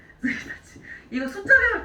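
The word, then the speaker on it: 一日: 스이타치. 스이타치.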